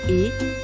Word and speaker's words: est: Both forms use est, its final s and t are silent.